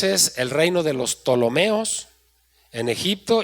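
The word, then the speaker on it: Ptolomeos: Si alguien está escribiendo esa palabra Tolomeos, se escribe con P al principio. Tolomeos.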